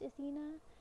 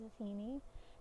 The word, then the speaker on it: Athena: for seemingly no reason it is widely accepted that Athena is spelled and pronounced Athena but in the and and not many people write it or spell it or say it as atheney there are some um